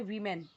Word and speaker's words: woman: जब WOMEN है, यानी प्लूरल है, तो उसे पढ़ते हैं वीमेन। वी ये वाला वीमेन, ऐसे। और जब WOMAN है तो उसे पढ़ते हैं वूमन।